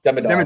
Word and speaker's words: Demidov: sense of black uh demidov demov believe is how you say it yeah I we were